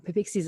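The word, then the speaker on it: Peepeekisis: in southern saskatchewan and papiksi's first nation is uh pixies is how you say it cree nation first nation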